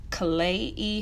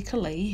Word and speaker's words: Klaiyi: kalai hair okay so the actual pronunciation of the company's name is clay e hair clay hair i didn't